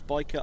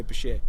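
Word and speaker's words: bichir: Some people say Basher, right? So, I'm happy with um biker or basher. Okay. Because biker is there's an argument that when a scientific name is latinized, it must follow the Latin pronunciation.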